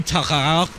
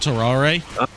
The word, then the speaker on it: Tarare: It's actually Tarare, not Tarare. Or whatever it was. Because they don't pronounce the E's on the end of stuff like that.